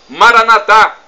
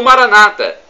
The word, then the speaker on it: Maranatha: de Jesus o aramaico Eu Clamo Maranatha como dizemos nós católicos com a tônica na última sílaba ou Maranata como dizem nossos irmãos separados os evangélicos ou protestantes não importa somos todos